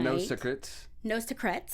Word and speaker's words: No Secrets: And it is game night, Zara's board game, nose crets, they called it.